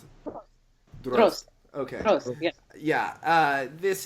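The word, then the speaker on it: Дрозд: How do we pronounce it? Drozd.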